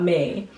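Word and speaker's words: Mie: it's called All About Me, and it's in Canggu, but me is spelled M-I-E, which is noodles in Indonesian.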